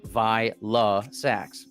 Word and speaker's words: Vylassax: So my mom named me Vylassax. Get it? All right. Vylassax. Okay. Because it's pronounced like Vike.